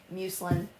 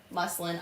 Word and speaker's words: muslin: wrong is your sucker no no no muselin muslin I always yeah musin I always call it muselin I don't know why